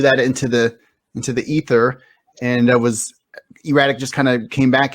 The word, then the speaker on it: E-Ratic: Yeah, E-RATIC. So, yeah, you don't have to emphasize the erratic.